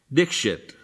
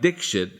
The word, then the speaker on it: Dikshit: last name I asked Dikshit I tell American people that it rhymes with mix it and they laugh I don't know what is so funny about it instead they pronounce it like Dikshit and this is frustrating